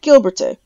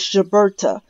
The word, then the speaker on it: Gilberte: The name is French, and it's pronounced in the original French dialect as Gilbert. But in the common English, or say modern English pronunciation, it could be announced as Gilberta.